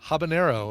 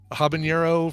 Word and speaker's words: habanero: automatically foreignizing and stuff where but uh yeah habanero apparently is the uh uh is the actual pronunciation and I've been calling it habanero for as long as I can think of